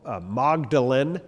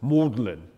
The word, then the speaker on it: Magdalen: little sub colle of uh Oxford University called magdalin like Mary Magdalene but it's if you're British you pronounce it mlin like that I don't know why British are